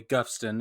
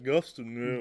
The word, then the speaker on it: Goffstown: He's from, it is spelled Goffstown, New Hampshire, but because it's New Hampshire, it's probably Guffston or something. Yes, Guffston. Yeah. Guffston. That's just how they pronounce things.